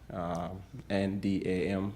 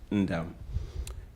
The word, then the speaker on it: Ndam: like it sounds, N-D-A-M, that's the last name. The N in that name is silent, Ndam.